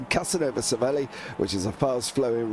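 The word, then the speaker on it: Casanova-Savelli: and a left it's Casanova SEI which is a fast flowing right left corner it is actually pronounced as one so there we go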